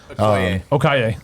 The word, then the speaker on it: Okoye: Okaye? Okoye.